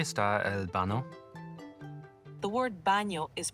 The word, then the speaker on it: baño: The word baño is pronounced ba-nyo with a soft ny sound like in the English word canyon.